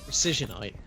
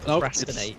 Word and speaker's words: Procisionite: Precisionite, not procrastinate or anything.